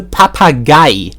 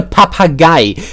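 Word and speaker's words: Papagei: makas so my car in German is a papa guy I'm not you it's a papa guy again um it's three syllables this time guy again or if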